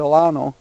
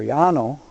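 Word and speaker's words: Llano: all the way to Lano or Yano however you want to pronounce it I do have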